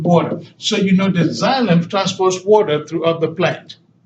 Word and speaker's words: xylem: water is called as xylem you pronounce it as like his Z if we do is spelled with an X all right let me